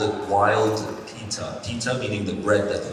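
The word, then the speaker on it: Peeta: And the reason for that was, it's actually supposed to be spelled P-I-T-A. And we found people pronouncing it Pita or Pita, and some people said Pita. So we said, you know what, let's replace that I with two E's and call it Pita.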